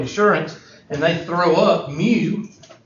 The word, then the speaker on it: mu: and they throw up mu, which is pronounced M-E-W, mu, then you know that's the population mean.